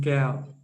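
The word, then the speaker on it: Kaew: The Thai woman, the Thai nun, Mechi Gao. Mechi Gao. How to spell? I think Keow. Keow. Okay. But it's pronounced Gao, Kell. But it's written Keow.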